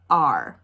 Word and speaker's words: are: This is how that word is spelled, A-R-E. But the E doesn't say anything. That's why we have the line through it. It just says R.